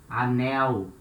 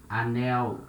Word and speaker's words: anel: And here it's important to notice letter L at the end of a syllable. We had the sound of U. Remember? Anel. You can say anel. No problem. It's not wrong, but it's not natural.